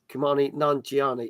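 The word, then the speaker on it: Kumail Nanjiani: That's how you pronounce his name. Kumani Nanjiani.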